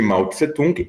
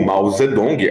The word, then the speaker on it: Mao Zedong: sabe, vamos falar de Mao Tse Tung ou Mao Zedong, as duas pronúncias estão corretas, use aquela que você mais gostar ou acha mais fácil de falar.